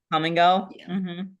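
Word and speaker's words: Kum & Go: There's also a gas station here called And it's spelled K U M. I've been to them. Oh, I've seen that. Come and go.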